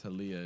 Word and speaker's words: Taliyah: to jump clear it's taliyah is there jungler by the way oh so it kind of rhymes with olivia yeah that's kind of